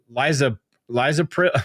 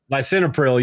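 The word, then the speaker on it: lisinopril: But we've got one more um in here, and I believe this is Liza Lizopril. I don't know how to say this. Lysinopril.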